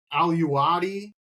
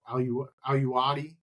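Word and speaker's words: alluaudi: So I've heard aluwadi. I've heard, is that aluwadi? So yeah, I guess that's acceptable.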